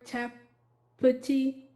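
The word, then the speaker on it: Tapputi: Tapati.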